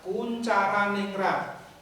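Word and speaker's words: Koentjaraningrat: Kemudian yang kedua, menurut Kuncharaningrat, itu tertulis Koenjaraningrat. Jangan dibaca seperti itu, tapi membacanya adalah Kuncharaningrat. Tulisan di situ adalah ejakan lama.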